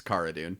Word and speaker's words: Cara: Somebody asked her about it in an interview and she says it's Cara. Oh, really? Because everyone has been calling her Cara on the show.